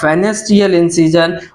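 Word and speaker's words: Pfannenstiel: में आता है आपका fanstiyal इसमें पी होता है वह साइलेंट है इसलिए इंसीजन और फाइनल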